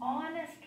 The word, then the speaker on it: honest: So here H is silent.